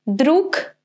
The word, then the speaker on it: друг: Do we pronounce this word друг or друг? Right, друг, because g is at the end of the word, the sound will be of its pair, so k.